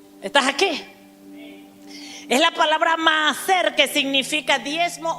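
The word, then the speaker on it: מעשר: palabra hebrea palabra diezmo es la palabra hebrea maer se escribe m a a s e r y la segunda a lleva tilde para los que tienen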